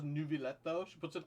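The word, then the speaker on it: Neuvillette: And also, some of the Melazines also say Nervillette instead of Nuvillette. It feels like Farina might have actually picked up the pronunciation from the Melazines instead of, like, humans. Because, all the humans refer to him as Nuvillette. But a lot of the Melazines say Nervillette.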